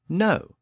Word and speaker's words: know: cognate with the word no you notice that little K at the beginning of the word no k n o w well it's there because it was once pronounced in Old English it was Canaan and